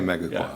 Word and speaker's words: Megaquop: other catchy term, but mega quap I think is what you is that how you pronounce it? Yeah, I say mega quap.